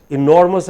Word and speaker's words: enormous: point you have made enormous has three syllables e nor must but because the stress is on nor so he is hardly heard the listener hardly hurt